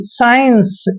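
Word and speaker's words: science: ई एन सी ई साइंस यहां पर भी क्या है कि एस के बाद सी आया है और सी का उच्चारण हमने नहीं किया एस को हम स पढ़ रहे हैं और आई को आई पढ़ रहे हैं ऐसे और एन को आधा न पढ़ रहे हैं और सी ई का उच्चारण स कर रहे हैं साइंस साइंस पढ़ रहे हैं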